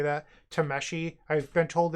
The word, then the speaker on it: Tameshi: We don't need the Tashimi here. Or Tameshi, I'm sorry. I'm sure a bunch of people in the comment section are upset that I keep on butchering how you say that. Tameshi.